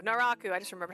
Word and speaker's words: Naraku: inasa what's his name I thought that was maroku oh no no that's definitely him that's him who's the hot bad guy naaku there we go Naraku Naraku I just remembered how to say it right